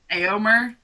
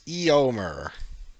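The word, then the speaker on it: Éomer: pronounce Aomer. Nope, it's Eomer.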